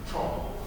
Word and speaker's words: Zhou: Zhou. Yeah. How do you spell it?